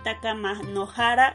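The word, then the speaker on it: 高天原: Otra situada en el cielo, el Takamanohara o Takamahara. Takamahara. Ahí me salté una sílaba, que se puede traducir como la alta llanura celestial.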